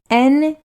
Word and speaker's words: Netflix: There's no S at the end of Netflix. It's Netflix. Netflix. Netflix. Yeah, with an X. There's no. Netflix.